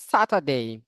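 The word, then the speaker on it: Saturday: স্যাটারডে, স্যাটারডে, স্যাটারডে আর স্যাটারডে, স্যা অথবা সা, দুইটা সঠিক। স্যাটারডে, স্যাটারডে, স্যাটারডে। এখানে কিন্তু আর উচ্চারণ করে নেই, কেন মনে আছে? আর এর পরে কনসোনান্ট থাকলে আর উচ্চারণ হয় না। এই যে আর এর পরে ডি, ডি এটা কনসোনান্ট।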